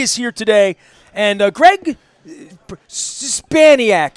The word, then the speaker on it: Szczepaniak: And Greg Szczepaniak, am I saying it right? That's pretty good. That's better than most of my relatives. How can I say it? Szczepaniak, yeah. I did say it right.